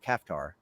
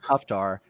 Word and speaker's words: Kaftar: series, I pronounced it Kaftar, and I should have kept it consistent through the series, but then book 3 I did after I did Goblin King, and so I got in the habit of pronouncing it Kuftar, and so now there's an inconsistency in Dungeon Lord.